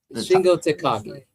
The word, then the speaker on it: Shingo Takagi: That's 21-28 says it's pronounced Takagi. Shingo Takagi.